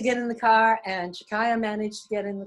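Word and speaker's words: Chakaia: Is her name pronounced Chakaya? Chakaya.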